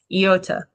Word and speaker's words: iota: Okay, you always hear it pronounced iota because we say, not an iota. I'm going to say it differently. Iota. Almost like the Star Wars character. Not Yoda, okay, but iota. Iota. All right, and the reason I say it like that is because this vowel has an E sound to it. When you say it, iota, then you can remember, this sounds like E, right?